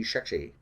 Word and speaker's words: Shekshi: It's going to be Shekshi. It's not a speech impediment. That's actually how it's spelled, Shekshi. So, Sean Connery fan, maybe?